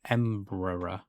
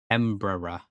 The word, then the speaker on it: Embraer: I've never heard of Emperor. Emperor. Brazilian Portuguese pronunciation, a Brazilian multinational aerospace corporation. So it's Brazilian. Embraer.